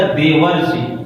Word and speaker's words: देवर्षि: ऋषि मिलकर हो जाएगा देवर्षि। देखो देवर्षि, देवर्षि जो बोलते हैं उसमें अर प्रोनाउंस होता है, ठीक है, अर जो है हमारा आता है देवर्ष, देवर्ष, ठीक है, देवर्ष।